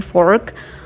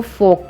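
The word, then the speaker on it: fork: इसमें आर जो है वो ब्रिटिश साइलेंट करते हैं लेकिन अमेरिकन इसको पूरा पढ़ते हैं। वो पूरा इसे प्रोनाउंस करेंगे, वो कहेंगे फोर्क। ब्रिटिश इसको फोक पढ़ते हैं।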